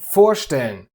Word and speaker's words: vorstellen: Aufpassen, einkaufen, vorstellen. Exactly, the stress is always on the prefix.